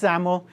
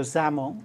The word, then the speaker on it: XAML: language and it's pronounced ZL kind of sounds like you're pronouncing with a z um so ZL um and all it